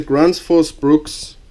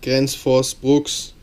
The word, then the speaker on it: Gränsfors Bruks: axes that are out there this is the gr Force Brooks or how it's actually pronounced Grand Force Brooks um Wildlife Hatchet Hand Forged in Sweden this